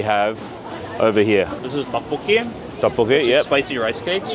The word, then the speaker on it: Tteokbokki: Okay, this is the, how do you pronounce it? Tteokbokki.